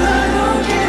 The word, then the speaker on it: 男神: 男神, pronounced "lam/nam sun". Yes, it's the same character that you see in God's Menu.